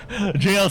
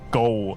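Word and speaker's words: gaol: but pronounce it like goal when I know it's pronounced as jail.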